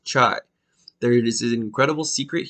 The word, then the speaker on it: chai: greater in the Bible in Hebrew life is pronounced chai there is an incredible